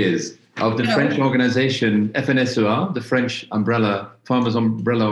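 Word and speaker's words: FNSEA: of the french organization fnsoa the french umbrella farmers umbrella organization f-n-s-e-a or as i pronounced it in french fnsua bonjour i will introduce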